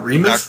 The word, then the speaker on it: Remes: uh God you just told me how to pronounce uh Remis Remis yes he is a mentor and assistant